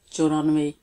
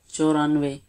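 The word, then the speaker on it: چورانوے: 94, choranve, choranve. Cha come from 4 and runve, choranve. If you confuse to pronounce the last sound ve, it is same like in English we say ve. So choranve.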